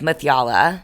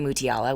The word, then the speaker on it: Mutyala: no one does so the right way to say my last name is makalah with yalla yeah but you know people say muti Allah which is fine I'm gonna say it